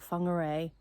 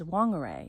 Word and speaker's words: Whangarei: amazing place, and so the WH is actually pronounced fa, and so there's different places like Whangarei and Mangawhai.